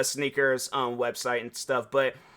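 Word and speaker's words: SNKRS: then they got this app called Sneakers but the way that they spell it is SK um it's no it's SN is it SN KR or is it SK SN KR SN SN KRS yeah that's the uh that's the uh sneakers um website and stuff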